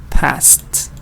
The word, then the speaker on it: passed: passed was going fast now why does it help it helps because fast ends in tear sound and this Ed is also test sound passed and the same here